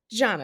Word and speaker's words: Jana: Just like my name is Jana. It's not Jana, Johanna, Jana, whatever y'all want to call me. It's not that. I don't care how it's spelled and how you think it should be pronounced. I'm telling you the correct pronunciation of my name.